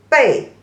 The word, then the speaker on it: 北: So 北 is the third tone, and the back is the fourth tone. 北, back, means your back.